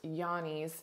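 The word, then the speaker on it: Johne's: called Yanni's which is spelled j-o-h-n-e-s almost like Johnny's but pronounced Yanni's and that uh can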